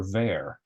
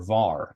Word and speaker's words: var: keywords let const or ver or var if you pronounce it that way the var keyword for